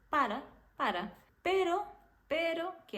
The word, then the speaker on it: para: não quer falar então quando a gente tem apenas uma R que é a letra A R fraca você vai falar um ra tipo assim sem colocar muita força nessa R vai ser ra para para não é para é para Para Pero